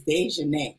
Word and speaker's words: Dejanae: so um okay so I clearly messed up your name in the beginning and I said it like I butchered it I went in and butchered it at least five times so I'm gonna let everybody know it is dejanae okay so can you